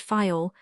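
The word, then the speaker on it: Faial: Therefore, we steered for the nearest island of the group, fail the people there pronounce it file, and put the accent on the first syllable.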